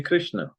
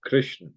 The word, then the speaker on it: Krishna: Similarly, Krishna. Krishna is 2.5 syllable. And if I close the mouth at end of Krishna, if I say Krishna, then its last syllable is also half, which is not right.